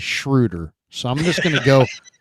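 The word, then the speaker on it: Schröder: just because you know there's no reason that it shouldn't be Schroeder it should be Schroeder uh but he pronounces it as shrewder so I'm just gonna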